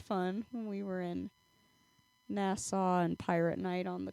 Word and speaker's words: Nassau: a cruise to the Bahamas and you're in Nassau, right? Am I saying it correctly? You should see the uh Pirates of Nassau Museum. Oh, so Nasso.